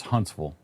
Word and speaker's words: Huntsville: It's Huntsville. They pronounce the T.